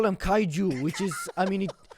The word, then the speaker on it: kaiju: I mean, it's not spelled with a G, but it's actually kaiju. But if you ask them, they'll go gaiju.